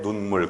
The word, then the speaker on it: 눈물: 짧게 눈물, 그죠? 따릅니다. 눈물. 눈물은 길게 흘리면 안 좋은 거니까 짧게 흘려야지.